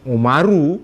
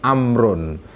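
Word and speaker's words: عمرو: mim tanpa W sesudahnya Makanya kalau anda men di dalam kitab gundul enggak ada harakatnya Ain mim ro ada wawu itu bacanya bukan bukan umaru ya atau umarwun ya bukan tapi amrun tapi kalau tidak ada wawunya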